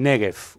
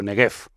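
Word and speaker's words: Néguev: lo que se llama el negf o negf de las dos formas se puede pronunciar el desierto del negf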